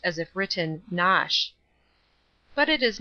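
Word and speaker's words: Knotacent: toss the seat of the Lord not assent pronounced as if written nosh but it is not necessary to pronounce either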